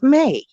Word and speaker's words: May: Every time I say her name, I say Mia. It's May.